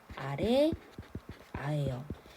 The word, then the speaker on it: 아래아: 자, 무엇을 본떴느냐 그러면 첫 번째로 자, 요 이름은 아래 아예요. 아래에 오지만 아라고 읽는 거예요.